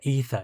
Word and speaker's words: Aether: Well, it actually wasn't the Aether. It was the Ether. It's pronounced Ether.